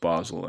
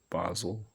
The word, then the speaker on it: Basil: exchange because Professor Basil, I think his name's pronounced Basil actually. I think because in English, in British English, they say Basil.